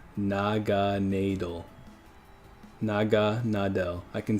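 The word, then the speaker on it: Naganadel: gana del noggin Adele but but it is pronounced Naga needle like it's literally pronounced Naga needle Naga na del I can see you're saying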